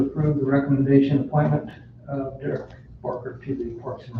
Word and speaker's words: Derick: You're still pronounced Derek, right?